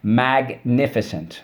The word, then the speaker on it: magnificent: That's right. Good old rule 2. Soft C when followed by Y, I, or E.